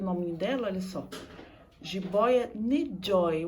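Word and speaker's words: N'Joy: dela Olha só Jibóia ne Joy o n é mudo né e o ruído em joy é um y no final eu uma coisa bastante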